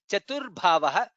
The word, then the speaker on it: चतुर्भावः: Chaturatma Chaturbhavaha. Bha is Mahaprana. Chaturbhavaha.